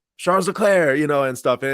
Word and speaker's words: Leclerc: the year, Ferrari, with, I guess it's actually pronounced Charles Leclerc, which is crazy to me because you hear the main announcer for Formula One every single weekend.